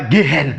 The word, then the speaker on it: gehen: exemple, on prend gehen, on ne dit pas gehen, non, on dit gehen, vous voyez, on dit gehen, non, c'est pourquoi là, on avale le H, on ne prononce pas le H, vous voyez.